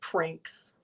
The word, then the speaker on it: Prinx: i've been pronouncing it i pronounce it as pranks pranks okay because i wasn't